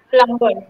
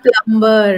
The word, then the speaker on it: plumber: So she heard dumb and one word was plumber. Yes, it is not plumber, it is plumber.